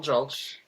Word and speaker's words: Julch: So, my name is Julch. If you have a hard time with it, it rhymes with Gulch and Mulch. Just put a J in front of it.